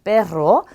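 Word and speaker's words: perro: 두 개가 연거푸 왔기 때문에 빼로 이렇게 굴려주셔야 돼요. 자, 얘는 강아지를 뜻하는 단어입니다. 빼로.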